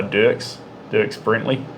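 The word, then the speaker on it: Brantley: But then, there's that song, I Hold On by Dirks Brentley. That's how you pronounce his name.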